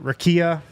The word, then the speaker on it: rakia: said they drank some Rocka although he pronounced it rakia small correction there pwat it's rakia you know